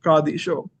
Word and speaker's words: Qadisha: kandisha or the kadisha the way um the calans pronounce it there is this idea of doubling so now the syak Orthodox the West syak folks don't have this and so they they just pronounce it as kadish show and you see there's only one the thing that makes the DU sound there's only one of it but the the doubling is implied there and we see it